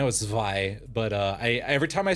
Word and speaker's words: Zwei: kinds of agencies, like the Zwei, or the Zwi, or however the fuck you pronounce that, and the combat specialized fixer offices.